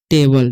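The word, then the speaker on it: table: ए बी एल ई है तो एबल, जैसे में कि लास्ट में ई है और ए क्या है सेकंड में है, तो ए का उच्चारण यहाँ पर ए होगा और ई का उच्चारण नहीं होगा, ठीक है। तो इसे हम पढ़ते हैं टेबल, इसे पढ़ेंगे बुक, ठीक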